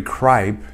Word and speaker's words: Cripe: Am I pronouncing it correctly, Cripe? You are.